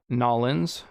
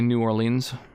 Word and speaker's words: New Orleans: new orleans mine is nollins i think that is how locals pronounce it um but i say new orleans helicoprion is an extinct